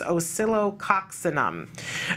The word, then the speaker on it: Oscillococcinum: look for it again I call it l of oxos oium or something but the correct pronunciation is osilo coxam okay I believe um